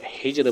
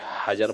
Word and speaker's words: حجر: کا درست آپشن ہوگا۔ تو ہجر پڑھا جاتا ہے، نہ کہ حجر پڑھتے ہیں یا ہجر پڑھتے ہیں۔ اب اگلا نمبر ہے سوال نمبر 18، سورہ کہف کا صحیح تلفظ کیا ہے؟